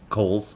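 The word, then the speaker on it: Cowles: I'm sorry Clayton CS Kohls I've been explained to me that your last name is pronounced Kohl's but I can't bring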